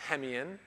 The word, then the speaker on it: Hemeon: is mark and um my last name is pronounced hemian um i had a